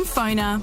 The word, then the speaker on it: Phoner: Find people easier, market yourself better, and get connected using Phoner. That's spelled P-F-O-N-R.